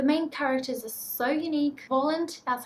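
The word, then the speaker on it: Woland: the time the main characters are so unique Poland that's how you would say his name in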